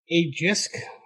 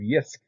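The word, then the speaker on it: Jysk: It's just you're pronouncing the word JISC instead of YISC.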